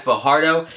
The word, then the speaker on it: Fajardo: This video has been brought to you by the homie Zach Fajardo. That is F-A-J-A-R-D-O. Quick little side tangent, whenever I see J's that are pronounced like H's, it kind of makes